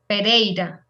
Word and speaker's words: Pereira: pereira the the city the city please yes pereira thank you you're welcome yes so it's not like as queen then you do pronounce everything yeah okay thank you yes we